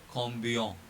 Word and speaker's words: combien: So in both these cases, C will become K. And pronunciation is calculatrice. Calculatrice. And this one is combien.